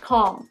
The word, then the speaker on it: calm: you use for here calm we don't pronounce b b is also not